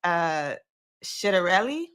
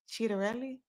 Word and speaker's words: Ciattarelli: The candidates right now are Mikey Sherrill, that's the Democratic candidate, and then the Republican candidate is Jack Ciattarelli. Ciattarelli.